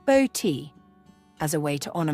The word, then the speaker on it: Botti: His name is a nod to my maiden name, Botti, pronounced Boti, as a way to honour my side of the family.